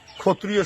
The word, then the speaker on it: ক্ষত্রিয়: ক্ষত্রিয় শব্দটা আমরা এদিক কই, কিন্তু বাস্তবে ক্ষত্রিয় উচ্চারণ না হয়, উচ্চারণটা হলে ক্ষত্রিয়।